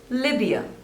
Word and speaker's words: Libya: Liberia Liberia next is Libya Libya two syllables and the stress is on the first one Libya Libya Libya next